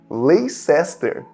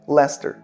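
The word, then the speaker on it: Leicester: Todas as cidades que terminam com Sester, eles pronunciam ster. Por exemplo, uma cidade bem famosa, né, que é LER. Se escreve dessa forma aqui, lacester.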